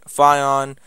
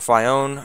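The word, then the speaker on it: Phione: on pronouncing, Darkrai, Manaphy, Phion, or Fion, however you pronounce it, Zekrom, Reshiram, Kyurem, or Kyurem, however you pronounce it, Genesect, Keldeo, Meloetta, Xerneas, Yveltal, Zygarde, Diancie, Hoopa, and Volcanion.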